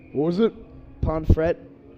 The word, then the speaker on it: Pomfret: Ponfret. Oh, yeah, that's got to be. Pomfret. Ponfret. Oh, no, I think it's Pomfret. We're in the U.S., so. We're going to pronounce the T. We're going to pronounce that T. I was going to say, no silent T's here.